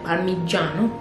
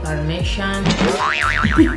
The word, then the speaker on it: Parmigiano: Parmigiano. Parmigiano. You know cheese that we always say parmesan? Bruh. It's parmigiano. Parmigiano. But in English maybe it's right, parmesan. But it sounds like French. Parmigiano is a brand from